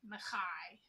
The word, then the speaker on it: Micaiah: a regular basis, and he said it the way it's actually supposed to be pronounced, and it's like that, Mackay. I've always thought the name Micaiah was such a cool name.